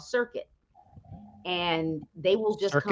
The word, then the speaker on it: Circuit: Circuit. Just like it's spelled, just like the word circuit.